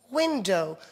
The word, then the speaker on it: window: to have students remember the o w sound at the end of some words and the W is not pronounced you can have something